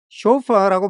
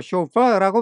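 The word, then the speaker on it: chauffeur: 겁니다 운전기사라는 뜻의이 말은 발음이 두 가지입니다 쇼파라고 발음할 수도 있고 쇼파라고 발음할 수도 있어요 니네 운전기사한테 투 이하하라고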